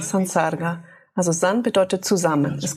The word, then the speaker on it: Sansarga: Für sich genommen Sam in Kombination mit S ändert es sich in San. Die Aussprache ändert sich zu San, Sansarga.